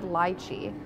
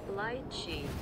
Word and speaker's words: lychee: up we always said lychee but lychee sounds not good okay here we go lychee there okay so the british say lychee while americans say lychee the british way of